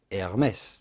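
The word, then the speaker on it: Hermès: well first of all the H at the beginning of Hermes is silent so do not say Hermes but rather Hermes heres if you can pronounce the French R hers Herms the S at the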